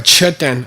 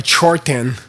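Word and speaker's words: mchod rten: Gelong ki ditar, a monk may be chaktel, doing prostrations to a chuten, a chorten, as it is mispronounced in East Tibet.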